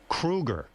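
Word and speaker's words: Kroeger: And Chad, you know, your last name is Kruger. Thank you. I don't know I've if been you know pronouncing that.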